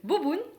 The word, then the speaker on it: Bò bún: le bord boon le bo boon et le fort bas le feu bon commençons déjà par le bas bonne le bo boon comme vous le connaissez vous le prononcé est telle qu'elle en français ce sont des vermicelles